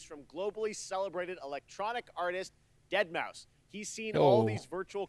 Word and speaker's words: deadmau5: your good friend joel professionally known as deadmau5 yes that is the correct way to pronounce it we're here to talk